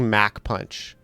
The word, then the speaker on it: Mach Punch: the Americans pronounce things that is the canonical pronunciation of everything. That's the one. It's Mac It's actually Mac punch. You're all done. You're done. You're done for. I'm not saying muck Why would I say that?